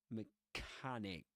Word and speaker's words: mechanic: Mechanic. So we say mechanic the vowel sound the a sound in mechanic rhymes is actually well let's put it this way rhymes with garage mechanic garage right mechanic